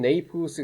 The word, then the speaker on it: Naples: 자, 이건 네이플스 그러면 나폴리예요. 나폴리 영어식 발음인데 나폴리를 여행하는 여행자에 대한 이야기를 다 알 겁니다.